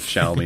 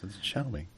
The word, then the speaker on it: Xiaomi: just bought a new phone but she can't pronounce the name of it begins with an a it's like sh me and she goes no no no it it begins with an X like oh yeah sh me she wouldn't believe me yeah but uh yeah